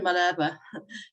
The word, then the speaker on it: Malherbe: And just for reference, it's Helen Malherbe. I know it can be a bit confusing between the Afrikaans pronunciation and the French.